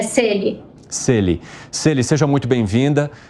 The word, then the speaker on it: Selly: Celi, só fale para mim se é Celi ou Celi a forma correta de se pronunciar o seu nome, por favor. É Celi.